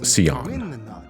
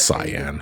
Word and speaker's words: Cyan: Well, like as a kid, I used to pronounce the name as Sion, but it's Cyan.